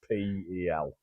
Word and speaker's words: Nispel: It's Nispel.